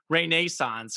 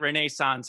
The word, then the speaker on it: Renaissance: That's your word, and my dad pronounces it Renaissance as well. Yeah. That's the British pronunciation.